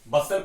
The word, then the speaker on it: bustle: ठीक है, बसल में जो टी होता है साइलेंट होता है बच्चों। ठीक है, बसल पढ़ा जाता है BUSTLE।